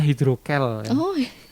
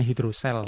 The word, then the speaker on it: hidrokel: ke ruang praktek dokter hidrocele ada juga yang membacanya hidrokel hei juga hidrogel lebih suka lebih sering membacanya hidrocele hidrocele itu apa sih